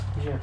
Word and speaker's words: GIF: Yes, GIF, not that I have a preference. G with a hard G. She likes the hard G.